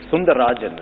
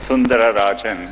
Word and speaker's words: Sundararajan: One of the things I read about you, it said Sundar Pichai is Sundarajan, right? To give you the whole name. It actually was Sundararajan.